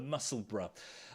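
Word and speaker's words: Musselburgh: a funny one uh it's spelled kind of like muscle Burr b-u-r-g-h but of course the way we speak here is Bruh Bruh the muscle bruh a wonderful pattern new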